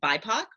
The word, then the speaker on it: BIPOC: i'm claudia alec and today we are understanding b-i-p-o-c b-i-p-o-c is an acronym that stands for black indigenous and people of color it's usually pronounced by poc or bipoc when you're using it in a